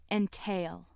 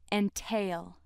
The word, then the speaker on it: entail: deserves special attention because it has two pronunciations entail and entail which